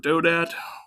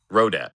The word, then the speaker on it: Rodat: written by Robert Dodat. He wrote another really good. Rodat. Yeah, I think that's how you say it, right? Rodat. Yeah, with an R.